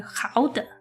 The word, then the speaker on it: Gouda: I don't know about you guys, but I learned the proper way to say Gouda, which is gouden.